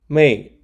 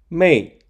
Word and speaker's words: 妹: The character Mei sounds similar to male, and we can imagine unmarried women having more time to send mail.